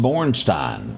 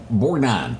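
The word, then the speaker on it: Borgnine: sheriff that was chasing the rubber duck Ernest Borstein Bor how you say his name Ernest borine why would you have led with Convoy what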